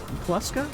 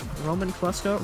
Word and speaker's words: Roman Kluska: How's the other part pronounced? Kluska. Kluska. I'm going to say both. Roman Kluska. Roman Kluska. If you Second one, Kluska.